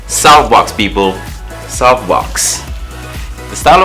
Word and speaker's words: Soufbox: as that so everybody just assume it's it's pronounced souffbox but it's softbox people soft box the style of clothing that